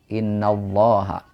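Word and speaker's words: إِنَّ اللَّهَ: sini sebelumnya fathah maka lafaz Allahnya adalah innallah im ya tebal dibacanya vokalnya o Innallaha kemudian panjangnya dua harakat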